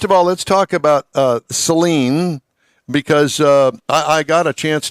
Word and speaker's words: Saleen: So, most people want to say Saleen, like the solution for your eyes. He wants to tell you that it's Saleen, like gasoline, which helps people remember how to pronounce it.